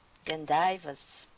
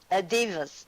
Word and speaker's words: divas: That is worse than divers. Divas. Divas, not Not divers. I was Divas.